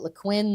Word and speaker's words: Lequin: I said, "Is that Lequin?" And he said, "Yes, that's how you're supposed to Ah, pronounce it is Lequin." But he says no one pronounces it that way.